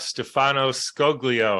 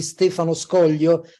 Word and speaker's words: Stefano Scoglio: and uh today's guest I'm honored to have Stefano skoglio I think I may have even pronounced it correctly or close enough well no